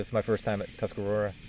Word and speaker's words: Tuscarora: This is my first time at Tuscarora. Am I pronouncing that right? Tuscarora? Yes, Is that- correct.